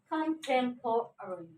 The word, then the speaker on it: contemporary: The stress mark over T, that's what we have to say, contemporary.